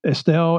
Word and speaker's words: Estill: Here you are in Estill. Is that how you say it? Estill, yeah.